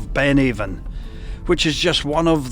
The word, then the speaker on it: Avon: The word Avon is pronounced differently in the old Scottish Gaelic language. There it can be pronounced Ann, which is why you